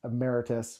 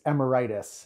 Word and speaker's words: emeritus: introduction that we did my pronunciation of our pastor our former pastor title as emeritus was more of a pandemic type of pronunciation the the wrong emphasis on the the syllables and i pronounced i think as amaritis uh which is uh i guess my pandemic mindset coming through in making everything sound like a virus so uh pastor richard